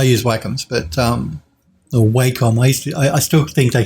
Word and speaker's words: Wacom: i've got i use wacoms but um or wacom waste i still think they should be called wacom but i think the proper pronunciation is wacom which just sounds weird to